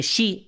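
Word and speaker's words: 四: No, es que shei es cuatro en japonés y se pronuncia igual que la palabra muerte, she.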